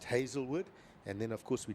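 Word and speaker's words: Hazlewood: That has the different spelling. That's just Hazel. So another way of spelling it, but both pronounced Hazelwood.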